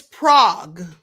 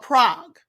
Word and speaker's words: Prague: So it's Prague. That's how you say it, like a frog. It's called Prague.